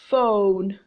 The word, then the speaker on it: phone: bow web web okay attention to some words that are spelled with letter P letters P H but the sound is of F for example phone phone - hi fan